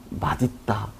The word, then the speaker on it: 맛있다: 발음하는 방법을 알려 드리겠지만 이것은 두 가지 다 표준 발음으로 인정이 됩니다 맛 있다 맛있다 원래는 맛 있다가 돼야 되는데 많은 사람들이 맛있다 발음을 해서 그것도 복수 표준 발음으로 인정해 주자라고 했습니다 그러면 밥이 맛 있다